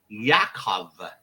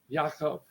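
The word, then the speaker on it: יעקב: favorite videos the name James in Hebrew is pronounced Yakov Yakov wow Yakov which would make sense but in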